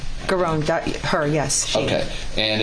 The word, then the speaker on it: Giron: Is that how you pronounce his name? Garon, her, yes.